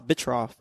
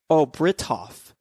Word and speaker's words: Britoff: Is it Bri with the R? Yeah, probably. Let me see my history. Oh, Britoff. That's what it is.